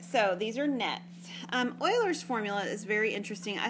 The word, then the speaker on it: Euler: yeah all right so these are nets um euler's formula is very interesting i suspect you've probably seen this before somewhere maybe not but you may have this is pronounced euler it is not euler okay or euler or anything like that it is euler euler's